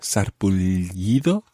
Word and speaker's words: sarpullido: Un sarpullido, sarpullido, it's got a double L sound at the end there, sarpullido.